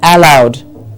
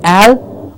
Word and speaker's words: allow: app or an e they would say allow am I allowed it's not al or all it is allow okay so it's just